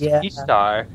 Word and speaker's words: Ishtar: heard was that there's a Syrian goddess named Ishtar and it's pronounced ishar so basically and she